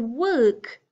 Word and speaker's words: work: walk I walk to work the word work my tongue is coming up and should feel tight woke I walk to